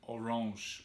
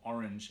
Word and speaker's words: Orange: But you want to see those two, and you want to see the amphitheater in Orange, or Orange, as it looks like it's spelt, as it looks like it's pronounced.